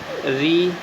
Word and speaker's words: ऋ: प्रयोग मिलता है और इसका जो उच्चारण है वह र और ई के समान होता है।